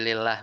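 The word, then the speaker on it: لله: Nah, itu nggak ada alifnya tuh. Jadi lillah bacanya. Syuraka lillah.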